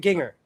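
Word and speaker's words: Gingher: The scissors brand I have the most are Ginger. Is that how you say it? Ginger.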